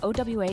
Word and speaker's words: OWA: OWA is a major entertainment hub located in Foley, Alabama.